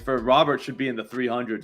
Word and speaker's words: Robert: It's Robert.